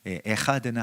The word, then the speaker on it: 에하드: 한국말로는 그냥 한이고 에하드는 하, 그래서 카와 하의 어떤 중간 정도의 발음 되는데요.